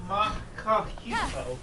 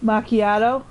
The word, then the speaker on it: macchiato: That's caramel macchiato. Macchiato? Macchiato. There you go. It's fun watching kids try to pronounce words that like sound nothing like how they're spelled.